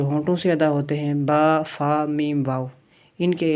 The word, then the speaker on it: ب: لہجے میں پڑھنا ہے۔ جس طرح اردو میں پڑھا جاتا ہے بے تے سے، اس طرح ہم نہیں پڑھیں گے اس کو توئے زوئے جیسے پڑھتے ہیں اردو میں، یہ عربی میں پڑھا جائے گا با تا سا، اسی طرح طا ضا،